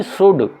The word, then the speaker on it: should: इसी तरह से ये होगा शुड, SHOULD, शुल्ड नहीं शुड, ये शुड होगा। इसके अंदर L से पहले OU आया हुआ, तो ये L साइलेंट होगा।